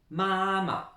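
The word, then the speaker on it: 妈妈: Alors, au niveau de l'étymologie, déjà, vous remarquez la prononciation en ma, de maman, hein, il n'y a que le N qui manque par rapport au français. Même chose que pour papa. Premier ton ici, pas le quatrième, mais le premier. Comme c'est deux fois la même chose, ça devient neutre ici. On insiste bien sur la première syllabe, mama, et on laisse couler pour la suite.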